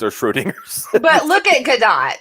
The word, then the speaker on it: Gadot: Also, isn't her name pronounced Gadot? I thought so too, but everybody I've ever heard talk about her say Gadot. So yeah. Gadot is the European. Gadot is, I think, the Hebrew.